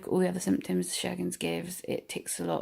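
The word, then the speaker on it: Sjögren's: But it's an autoimmune disorder, Sjogren's. It's spelled Sjorgens, which, yeah, Sjogren's does, yeah, Scandinavian, I suppose.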